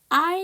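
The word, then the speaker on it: aisle: 여러분, 여기 전체 슬라이드에서 묵음이 있어요. 그쵸? I'에서 뭐가 묵음이다? S 발음.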